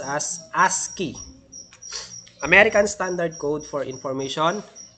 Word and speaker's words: ASCII: so that is we have the ascii ascii pronounced as ascii american standard code for information interchange it is